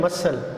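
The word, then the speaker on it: muscle: इस वक्त सिलेबस में जो है ना हम उसको फॉलो कर रहे हैं कि सी इज़ not pronounced in द एंड SCL. ये मसल, इसको पढ़ते हैं मसल, और ये मसल आपको पता है, आप जिस्म का मसल पट्ठों को कहा जाता है.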